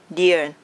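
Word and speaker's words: เดือน: Esse aqui, essa palavra é meio difícil, tá bom? Então, eu separar em 2, assim. Então, como ler é Dian, tá bom? Você pronuncia junto comigo.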